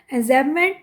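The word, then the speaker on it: enjambment: then स्टेंस एन जमेंट ए विच बी बिल्कुल silent है एंजमेंट then alliteration एसनेस रसा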